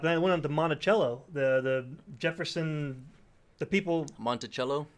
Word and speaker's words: Monticello: about that, but then it went on to Monticello, the Jefferson, the people. Monticello. Yeah, I've been saying Monticello.